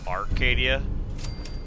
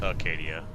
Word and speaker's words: Acadia: And now we are here at Acadia. I always thought it was called Arcadia, but it is just pronounced Acadia.